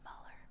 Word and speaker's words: Mueller: It's pronounced Mueller.